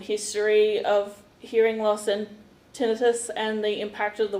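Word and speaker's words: tinnitus: he's suffering from and I always pronounce this wrong. So Tracy, tinitus. Tinitus. I I used I said tenitis for about my whole life until I started this job.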